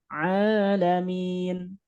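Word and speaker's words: العالمين: Jangan sampai suaranya tertahan. Alamin, alamin. Nah, kurang. Tapi alamin.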